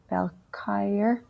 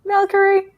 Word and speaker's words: Valkyrie: the other one against balcheyer am i pronouncing that right ultimate sorry there will definitely be ultimate valkyrie valkyrie thank you um sometimes it's really